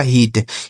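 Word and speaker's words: heat: यहां इ और ए एक साथ है ना तो इसका उच्चारण बड़ी की मात्रा। यह लिखा गया आपका हीट।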